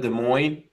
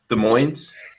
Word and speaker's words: Des Moines: There's an S in there. Don't pronounce the S.